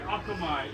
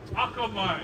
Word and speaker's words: akamai: He was also known for being very akamai. Yeah, we did this one too. And hold up, repeat after me. Akamai.